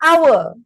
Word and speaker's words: hour: why because we cannot we cannot support H we cannot use the H we say hour that no you don't